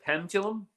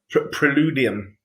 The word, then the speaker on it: Preludium: Is it Pendulum? How do you say? No, Preludium. Preludium. Sorry, Preludium. Yeah.